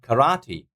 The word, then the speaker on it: karate: and then we got karate karate second syllable is taking the stress on it here and that's it so